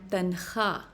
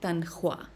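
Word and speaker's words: تنخواہ: So this word instead of khwahish is pronounced khaahish. Similarly, it's khab, not khwab, and tankha, not tankhwa.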